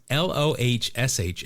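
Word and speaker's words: Lohse: It's Lohsh, and then in parentheses it goes long O, rhymes with kosh in kosher or COC in precocious.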